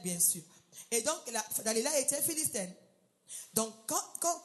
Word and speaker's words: Dalila: elle se nommait Dalila d'autres disent Delila d'autres disent Dalila moi c'est écrit ici Delila mais on peut dire Dalila je pense que c'est la prononciation normale c'est Dalila alors verset 5 les